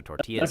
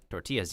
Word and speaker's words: tortilla: But also tortillas. No joke. Tortillas yummy. Mm-hmm. And it's not pronounced as tortilla, it's tortilla.